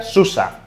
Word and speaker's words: SUSE: ya quede más claro por qué se pronuncia susa hablemos ahora de los